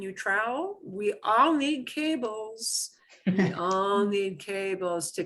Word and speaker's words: cable: We all need cables. We all need cables to connect our phones and charge our stuff up, right? So, cable. Cable. Cable. You need to pronounce the E at the end.